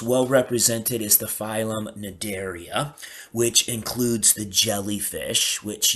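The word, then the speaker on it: Cnidaria: Notice that the sea is silent in nadaria.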